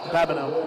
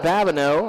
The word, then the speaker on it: Babineau: Yep, Babineau. Babineau. I wanted to make sure I pronounced that correct.